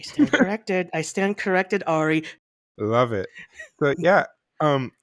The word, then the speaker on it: Ari: not Ari Aster who I believe his name is Ari not ay as you said oh oh oh I stand corrected I stand corrected Ari love it so yeah